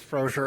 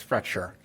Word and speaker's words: Fracture: life for some reason I had read it as frosher and it's fracture um are there questions